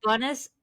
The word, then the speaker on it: Bonis: I have with me Bonis. Uh did I pronounce this right? Bonis.